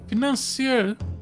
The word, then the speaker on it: financier: The accused killed the financier victim there on the public stage. Let me just hear this word. Pronunciation. Financier? Why? financier? Oh, okay, but that's French pronunciation.